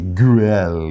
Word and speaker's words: Güell: Grill, yeah. I think sometimes you see it, the U has those 2 dots on the top, like they use in German. So it's kind of an unusual pronunciation, but something close to grill.